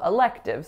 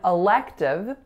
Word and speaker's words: elective: and then you may have a number of electives so you might have some freedom to choose some courses that interest you so in elective there are three syllables the first and last